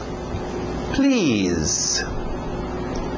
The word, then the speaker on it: please: Please. Please. Som de Z aí no final.